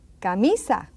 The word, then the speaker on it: camisa: Una camisa. Very good. Fabuloso, mis estudiantes. Muy bien. Una camisa. Camisa. That I is quite long, right?